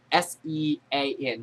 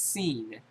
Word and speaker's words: Sean: The guy's name is spelled S-E-A-N. That's seen. They pronounce it Sean.